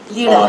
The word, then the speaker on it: lira: Lira, lira. What does it depend on the pronunciation? Is it people from Lebanon say it that way and the rest of the world says Leos? No, it's called lira.